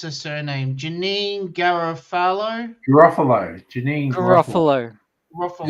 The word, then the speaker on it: Garofalo: How do you pronounce her surname? Janine Garofalo?